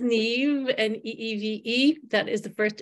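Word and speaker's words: Neeve: My name is pronounced Neve, N-E-E-V-E.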